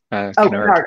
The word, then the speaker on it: Kennard: Kennard.